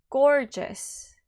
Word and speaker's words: gorgeous: Gorgeous. 같은 G인데 앞에 거는 G, 뒤에 거는 J 발음이 나요.